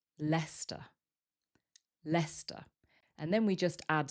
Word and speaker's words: Leicester: Leicester. And then we just add square, so we get Leicester Square.